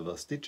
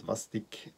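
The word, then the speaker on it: Vastić: It's Č, because he is originally from Croatia.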